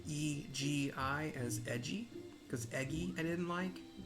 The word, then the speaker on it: Egi: I've also decided to pronounce E-G-I as Egi, because Egi I didn't like.